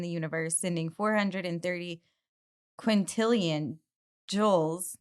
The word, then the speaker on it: joule: Do you say joules or joules? Jules. Joules What? of energy. I've never heard Oh, anyone say it oh, like that. no. every year. So I've never heard anyone say it like that. Say joules. Yeah. Joules? Jules. Is it Jules? I've It's always Jules, heard like Jules. It's Jules. Yeah, it's Jules.